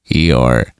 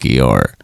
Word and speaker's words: Eeyore: If you say his name in a British accent, it sounds like Eeyore, Hee-ah, Eeyore, Hee-ah, like a donkey would say.